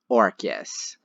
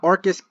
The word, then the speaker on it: Orcus: reference to orcas island pronounced the same way but spelled with an a instead of a u which is the childhood